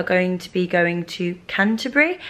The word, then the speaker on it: Canterbury: to be going to Canterbury. How do you say Canterbury? Canterbury. Canterbury. Yeah. Canterbury. Not Canterbury or Canterbury, Canterbury.